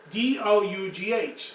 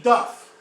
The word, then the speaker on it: dough: Now, D-O-U-G-H. Let's say that we pronounce that with Latin pronunciation. That would be duff.